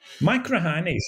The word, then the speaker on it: Machrihanish: Most people can't pronounce it. Machrihanish is a fabulous place.